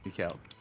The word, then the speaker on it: Mikhail: How do you pronounce it? Like Mikhail or Michelle? Mikhail.